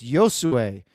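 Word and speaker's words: Josué: is Josue Quinones, which we changed the way we said his name a couple times until we actually heard him do his video pronunciation and went, oh, it's Josue.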